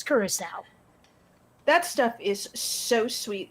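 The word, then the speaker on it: Curaçao: the names of all the really hard to pronounce drinks and yes it's curacao that stuff is so sweet it's like drinking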